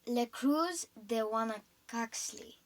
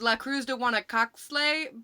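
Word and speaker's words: La Cruz de Huanacaxtle: cruz how does it go again mom it's le cruz de wana coxley oh okay well yeah that one oh my gosh i used to i used to think of it as la cruz don't wanna cockslay but um that's not how you pronounce it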